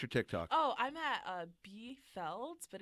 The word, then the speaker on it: BFELDZ: I pronounce it B Felds.